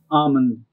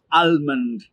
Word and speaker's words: almond: one more time salmon almond try it again almond try it one more time almond it's almond not almond the l is silent do we try it